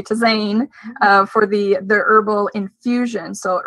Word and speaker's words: tisane: It's tisane. It's a French word.